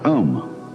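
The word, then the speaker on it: aum: mantras is of course the sound ohm that sound is used because if you spell it out a u m it runs from the back of your throat to your lips and therefore it contains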